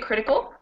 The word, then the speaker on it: critical: photography and critical so if you look at critical we have counting backwards one here cal is one t is two and crit is three so in this case counting backwards the third from the end is actually the first syllable critical critical and in photography and